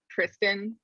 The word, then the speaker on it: Tristram: sir tristan it's the tristram and well it's also sometimes pronounced tristan yeah and it's all is